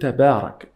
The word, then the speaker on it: تبارك: The ta in the word tabarak is a light letter.